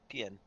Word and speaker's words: Pian: Pian. Pian. Pian. So Like I'm pronounced Pian. like peon.